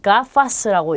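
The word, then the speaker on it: gafas: 자, 우선 뒤에 모음이 아, 오, 우로 오는 경우는 기역 발음이에요. 그래서 자, 이 단어는 가파스라고 읽고요.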